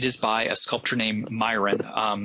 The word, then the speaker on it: Myron: by a sculptor named Myron. Sometimes it's pronounced Miron, depending on who your teacher is.